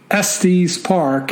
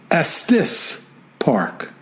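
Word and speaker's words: Estes Park: for your own knowledge SD's Park is pronounce Estis Park can we trust this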